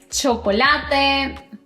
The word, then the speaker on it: chocolate: Si pronunciaste chocolate, chancho y churro, bueno, todo bien. El sonido de la C y la H es fuerte y corto, como un golpe.